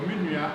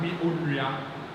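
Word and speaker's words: me nua: So minuya or ono. Minuya, not mi onuya.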